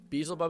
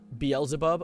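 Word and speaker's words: Beelzebub: Beaselbub is pronounced Belzabub.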